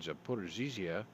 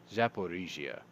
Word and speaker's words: Zaporizhzhia: On Tuesday, occupying officials in Ukraine's Donetsk, Luhansk, and Kherson and Zaporizhzhia regions, I keep saying that with too many syllables, Zaporizhzhia regions, said they would hold referendums to annex regions starting this week.